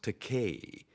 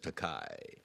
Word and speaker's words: Takei: I said, Bill, it's pronounced Takei. It rhymes with toupee. I thought that would do it. No, it just lies there, and he still says Takei.